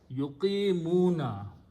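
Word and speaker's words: يقيمون: And because of this kasra, we adjust this word to speak in a softer way. So we say yuqi, not yuk anymore, yuqi, yuqimuna, okay?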